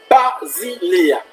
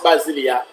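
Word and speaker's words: βασιλεία: Alors, le mot royaume vient du grec, mes chers amis, Basileia. Basileia qui s'écrit B-A-S-I-L-E-I-A.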